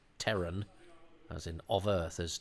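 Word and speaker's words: Terran: flames um isn't it odd that Tom Baker pronounces Teran as in of Earth as Tran um I bet somebody said Tom shouldn't it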